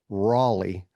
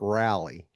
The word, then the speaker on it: Raleigh: Having been born in Raleigh, it's pronounced Raleigh, not Rally.